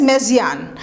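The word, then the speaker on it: Messiaen: s i a e n you have to pronounce it as mesan m e s y a h n now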